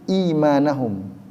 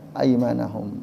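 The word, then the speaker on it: أيمانهم: Nah, kata aimanahum ini ada ulama yaitu Aduhaha bin Muzahim membaca bukan aimanahum tapi imanahum itakzu imanahum junah tetapi jumhur mayoritas ulama qiraat membacanya itaku aima aimanahum beda aiman dengan iman Ya, kalau aiman artinya sumpah-sumah.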